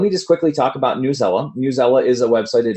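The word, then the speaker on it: Newsela: So I've actually in the past, I think Newzella, that's actually how the official site, that's how they say it. I have heard a lot of people recently calling it Newzella. So whatever way you say it, but I think officially it is Newzella.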